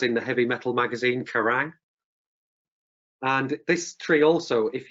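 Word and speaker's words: Quiraing: of Skye on a mountain race called the karang pronounced as in The Heavy Metal magazine karang and this tree also if you've got Amazon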